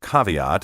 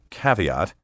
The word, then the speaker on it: caveat: reasonable quid pro quo the word caveat often pronounced caveat or caveat is used in a